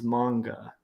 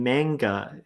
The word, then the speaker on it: manga: It took me forever to just figure out that like manga is manga. Like, Okay. so anybody saying manga is like completely mispronouncing it. Yeah. It's manga.